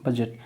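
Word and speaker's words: budget: ही tough है, क्योंकि BUD के बाद बजट जब हम लिखते हैं BUZET नहीं आता, वहाँ पे क्या होता है, D साइलेंट होता है, ठीक है।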